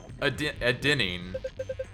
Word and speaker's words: adenine: A is adenine, G is guanine, C is cytosine, T is thymine. Adenine, that's how it's pronounced.